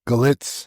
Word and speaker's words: Galitz: Am I saying that right? Galitz? Yes, sir. That's how you say it? That's how we say it.